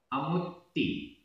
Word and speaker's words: अमुत्ति: अमुत्ति, अमुत्ति। आधा ता पूरा ता, छोटी ई की मात्रा।